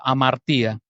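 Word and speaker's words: ἁμαρτία: griego que se que se escribe am María se pronuncia amaría errar al blanco ese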